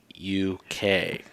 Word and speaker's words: Kowalchuk: So, And for those of you that spell like I pronounce, it's Kowalchuk, correct?